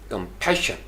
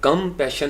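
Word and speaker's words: compassion: अब उसके बाद जो पैशन है, यानी लफ्ज़ के अंदर श की साउंड नहीं है, डबल S है, लेकिन चूँकि अहले ज़बान इसको शाह करके साथ पढ़ते हैं, लिहाजा हम इसको पढ़ेंगे कंपैशन, यानी कम पैशन नहीं होगा।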